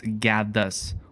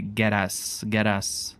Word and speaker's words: Gaddus: It's Gaddus, or as like almost every single English speaking person would pronounce, they say get us for whatever reason. But yeah, it's Gaddus.